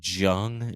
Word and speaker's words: Jung: the Jung I I'm I just want to preface that this is how it's said and I'm not saying it the wrong way okay Andy it's the Jung dragons juu n so the the Jung